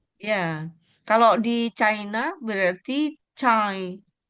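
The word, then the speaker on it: 再: Nah ini yang z c ini itu dia terdengarnya tuh seperti c gitu. Cai cai z a i. Cai cai. Iya cai. Iya. He cai cai cai cay. Betul. Nah. Jadi untuk yang bagian ini walaupun dia ada Z-nya dia tidak dibunyikan Z gitu.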